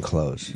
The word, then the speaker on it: clothes: You're not supposed to say the TH in clothes.